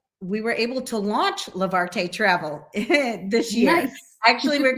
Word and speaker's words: Levarte: to remember how to spell it and it's pronounced lavarte and it means to lift up so we're